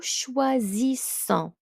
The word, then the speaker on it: choisissons: Je choisis, tu choisis, il choisit, nous choisissons. Nous choisissons. So S, one S between two vowels, we pronounce it as a Z sound.